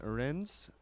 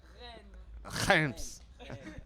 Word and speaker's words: Rennes: We're playing in Rennes. My pronunciation of that city is really bad. I meant. Say it. Rennes.